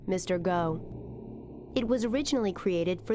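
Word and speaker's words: MRGO: Waterway known as the Mississippi River Gulf Outlet pronounced Mr go it was originally created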